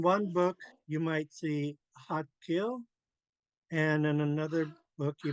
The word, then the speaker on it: Xaad Kil: hard D, and it's pronounced between a D and a T.